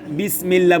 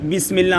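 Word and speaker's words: بسم الله: জের লামে আল্লাহ পাতলা লামে আল্লাহ ডাইনি লামে আল্লাহ পাতলা লিল্লাহি লিল্লাহি লিল্লাহি লিল্লাহি এখানে আকার দেওয়া যাবে এখানে আকার দেওয়া যাবে যেমন বিসমিল্লাহ আমরা বলি এভাবে লিখি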